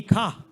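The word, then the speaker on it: ਖਾਹੁ: It's ape bij, ape hi kha. For the self. The ha there has an onkard. That's a grammatical onkard. It's not for pronouncing purposes.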